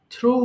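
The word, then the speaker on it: threw: থ্রো, নিক্ষেপ করা, কোনো কিছু ছুঁড়ে মারাকে আমরা থ্রো বলছি। তাহলে একটু বলেন, থ্রো নিক্ষেপ করা, থ্রো, থ্রু, থ্রোন। মাঝখানে এটা কিন্তু আমরা থ্রিউ বলি, থ্রিউ, নট থ্রিউ, it should be থ্রু।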